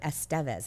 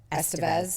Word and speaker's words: Estevez: I've always said his name wrong. So in the documentary, they're like, Emilio Estevez. I always said Estevez.